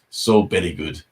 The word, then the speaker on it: So Belly Good: And then it was like, it's So Belly Good. It's how, because Japanese people cannot pronounce the V sound, and it becomes a B sound.